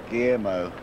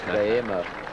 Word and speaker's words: Guillermo: And he worked it out how I could pronounce Guillermo correctly. And the first time I tried it, I stumbled over it. Guillermo. Guillermo.